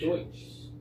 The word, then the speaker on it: Deutsch: The name itself came from a mispronunciation of their own word for themselves, Deutsch. Deutsch.